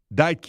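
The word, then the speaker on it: Deitke: So, Meta offered this 24-year-old researcher Matt Dyke. I'm going to pronounce the last name properly.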